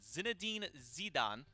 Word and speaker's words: Zinedine Zidane: It's Zinedine Zidane is actually the way that you pronounce the other team that Ogie Bogies is going up against.